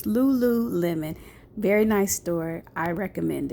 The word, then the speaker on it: lululemon: on the website i was saying the store name wrong my sister corrected me it's lululemon very nice store i recommend it okay so